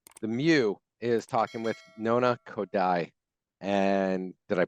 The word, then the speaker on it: Nona Khodai: workshop and today the Mew is talking with nona kodai and did I pronounce that correctly you did all right and